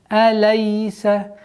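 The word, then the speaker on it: أليس: После звука лям, если идет я с сукуном, распространена ошибка, что она уходит в алей, лей. Нужно максимально четко, не торопясь, произносить фатха полноценным образом. Алейса, алейса, алейсал.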